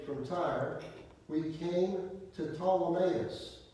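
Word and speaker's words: Ptolemais: time we came to ptolemaeus to pee is silent told him as we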